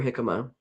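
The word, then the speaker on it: jícama: Um the part you eat is the root for hikima and hikima is spelled with a J.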